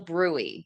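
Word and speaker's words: bruit: be checking for what we call a brewy b r ui t is how it's spelled the turbulent blood flow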